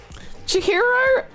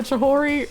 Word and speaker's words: Chihiro: Chihiro? Okay, I was a mistake. I didn't mean to call her Chihori, but I did.